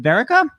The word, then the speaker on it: Verica: slash director tom verrica how about pronouncing it is it verica that's it you got it you're right on i still got it